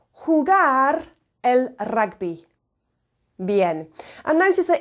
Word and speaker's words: rugby: I say hugar El ragby bi and notice that even though rugby is spelled the same as in English it's pronounced differently of course because the